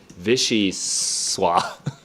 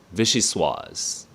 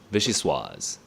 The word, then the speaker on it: vichyssoise: Vichy swa. How do you pronounce this thing?